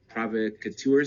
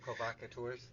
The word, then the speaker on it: provocateur: hey there's like probably some like agent Prov provocators is that how you say it provocateurs provocateurs yeah out there doing stuff and one